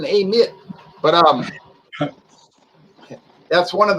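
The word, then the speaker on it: Amite: up there call it the way those people pronounce it as a lit they say yeah i live in amit but um that's one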